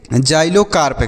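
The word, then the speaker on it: xylocarp: सी ए आर पी तो हम क्या पढ़ेंगे जाइलो कार्प क्या पढ़ेंगे बच्चों जाइलो कार्प पढ़ेंगे जाइलो कार्प देखिएगा इसे जाइलो कार्प पढ़ेंगे अब इसका मीनिंग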